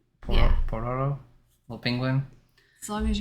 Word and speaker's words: Pororo: Pororo, little penguin.